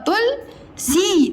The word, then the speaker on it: तुलसी: तुल, देखो तुल, ता में छोटा मत तू और ल तुल सी तुलसी, बूढ़ी या बुढ़िया का हाथ पकड़ कर लाया था।